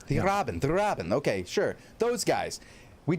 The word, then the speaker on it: Die Raben: Pronounce it for me, Bogul. It's German. Die Raben. Die Raben.